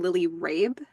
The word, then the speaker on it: Lily Rabe: like leading into that is the actress's name Lily Rabe is that the correct pronunciation yes yes that's right yeah yeah I've